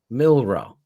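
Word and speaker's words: Milroe: something like that I gotta find it mil milro yeah right milro so he's their quarterback now going forward right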